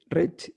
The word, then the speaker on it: Reig: sí, Es un apellido valenciano o catalán y se pronuncia, quizá conozcas más el apellido Roch. sí, que Tiene el hay, mismo mecanismo, es R-O-I-G, se dice Roch como si sí, acabara en CH.